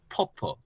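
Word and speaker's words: 뽀뽀: So here we have popo, popo.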